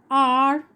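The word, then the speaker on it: hour: An amazing dog, an unknown university, an umbrella, an R, an orange. Now look at the word R.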